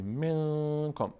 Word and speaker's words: منکم: میم رو، نون رو از بینی ادا میکنیم، نون رو می اندازیم صداش رو در بینی، منکم، منکم. نمیگیم منکم، منکم نمیگیم، میگیم منکم. هنگامی که تلفظ میشه هم مقداری صدا در بینی میمونه، منکم. از کجا بفهمیم که درست تلفظ میکنیم؟ اگر در هنگام تلفظ بینی رو بستید، صدا قطع شد، درسته. من این صدا قطع میشه. اینو بهش میگیم اخفا.